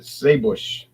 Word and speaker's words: Żywiec: And when the Austrians owned it, they pronounced it Seebusch. That's how the Germans said Żywiec. They say Seebusch.